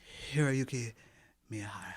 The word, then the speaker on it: Hiroyuki Miyahara: Yes, Hiroyuki Miyahara.